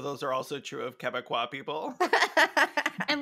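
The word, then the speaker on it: Québécois: in my AIDS video I pronounced once or something like or quebe saw uh and on purpose no on accident and I never heard the end of it like every Canadian everybody in Canada at this point has commented on that video like it's pronounced quebecois and I'm like yeah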